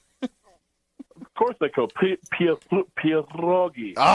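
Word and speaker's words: pierogi: Can you roll your Can you roll your Rs art with the Peterogi? Of course they could. Pierroi.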